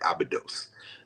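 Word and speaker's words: Abydos: a y d oos Some people prefer to pronounce it abidos the ancient name Abdu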